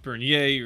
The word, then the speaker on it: Bernier: shot defenseman Alexis berer it's actually pronounced Bernier or Bernier but said like someone who's ever spoken French either way it's hard